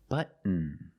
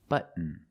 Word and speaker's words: button: Button. Button. Not button. It's button. Stop T and fault the N.